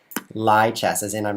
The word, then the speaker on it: Lichess: It's like live chess. Just pronounce it like the word live. Oh, thanks, because that's the same as the word live. Turns out he actually says lie. Lie chess, as in I'm not telling the truth.